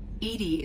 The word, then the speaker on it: Edie: Edie is the phonetic pronunciation of E-D-I. That is an acronym for Enhanced Defense Intelligence.